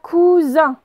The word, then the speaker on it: cousin: Là, j'ai le S, il est entre le U et le I, il est entre deux voyelles, donc il va zozoter. Donc ça va faire cousin. D'accord? Comme mon cousin s'appelle Paul.